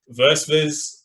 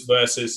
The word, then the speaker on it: Versvs: to pronounce it as verses that's just me i had my own moment but it's spelled like that it goes versus so versus official you'll